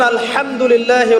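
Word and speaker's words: الحمد لله: আপনি পড়ছেন আলহামদুলিল্লাহ, শব্দটা কি? আলহামদুলিল্লাহ। এই হা এর মাখরাজ কোথায়? হা এর মাখরাজ কোথায় বলেন একজন? কণ্ঠনালীর মাঝখান থেকে। এখান থেকে আপনি উচ্চারণ করছেন আলহামদুলিল্লাহ রাব্বিল আলামিন, অর্থ দাঁড়াচ্ছে সমস্ত প্রশংসা জগৎ সমূহের রব আল্লাহর জন্য।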